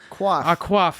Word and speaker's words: coif: chance say what's the CEO how do you pronounce that uh c-o-i-f uh Jane quaff I used to think guys when I was